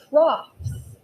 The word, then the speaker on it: trough: points next we're going to talk about the troughs trough everybody say it out loud trough trough is spelled like this g t-r-o-u-g-h trough it's pronounced trough horses and pigs eat out of